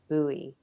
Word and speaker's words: Bowie: that i think that joe pronounces his name buoy and i wish i had asked joe that it's it's spelt like david bowie but um but joe